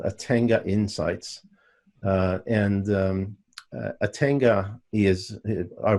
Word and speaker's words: Atenga: ATENGA. Just like it sounds, Atenga.